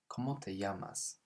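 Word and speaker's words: llamas: can ask them so careful with that double l because it's not a sound it's a almost like in english yamas and that means what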